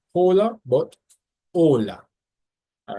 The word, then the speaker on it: hola: up until this point, the H in Spanish is actually silent. Every time you see a H, you never actually pronounce it. It's always silent. So that's why you don't say hola, you say hola.